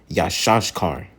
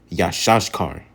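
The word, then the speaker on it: יששכר: And number 12, you have how you pronounce it in the Hebrew is Yashashkar. Yashashkar.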